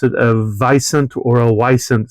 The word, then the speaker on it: wisent: And I believe they pronounce it a vicent or a wisent, so you can kind of hear that it sounds like the bison.